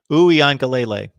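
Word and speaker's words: Uiagalelei: And again, I've got to phonetically go with it's Uwe Angale. I believe that's it. There we go. We got John Sirian helping me out there. It's DJ Uwe Angale. Angalele. Uwe Angalele.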